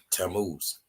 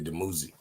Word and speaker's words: Dumuzi: Like back before, back when Abraham and all them people of the Bible, the ancient Christ was Tammuz. That's how they say it in English, but it's really Dumuzi.